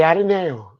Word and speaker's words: Ateneo: I enrolled in the Ateneo. Good. Nice pronunciation.